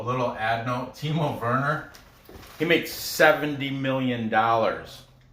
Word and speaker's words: Werner: It's spelled Werner, but it's pronounced Werner. Because like I told you, the W in Germany, my wife told me the W's are pronounced with a V sound.